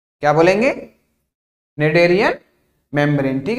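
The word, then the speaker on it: Schneiderian: है ना, क्या बोलेंगे, नेडेरियन मेम्ब्रेन, ठीक है, स्पेलिंग पे मत जाइएगा, ठीक है, इसको प्रोनाउंस करेंगे क्या, नेडेरियन मेम्ब्रेन, ठीक है, यहां तक की चीजें क्लियर हो गई होंगी, आगे बढ़े।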